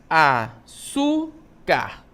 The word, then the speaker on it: açúcar: Açúcar, né? Qual é a sílaba tônica? Su. Açúcar. É a sílaba tônica, ok?